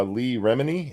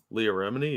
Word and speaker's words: Leah Remini: Also in the news tonight, I saw Lee Remini. Is that how you say her name? Leah Remini, yeah.